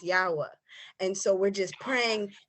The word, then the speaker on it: Yahweh: And so we refer to the creator by his Hebrew name, pronounced Yahweh. And so we're just praying and praying and praying and saying, Yahweh, please save our lives, save our lives, save our lives.